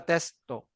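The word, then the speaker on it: テスト: Pero pag pronounce mo na testo. Testo. Testo. Testo. Testo. Dili na ni mga testo to. Hindi, testo. Testo. Mawawala yung U. Dapat pronounce ni mo.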